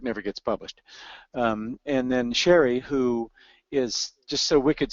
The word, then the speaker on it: Shari: I'm Shari, and it is pronounced Shari, and is pronounced, as in complete.